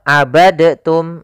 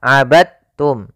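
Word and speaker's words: عَبَدْتُمْ: dalam membacanya eh maaf hati-hati jangan dibaca abadtum ya tapi langsung dimasukkan ke ta abadum bukan abadtum ya Meskipun Dal termasuk huruf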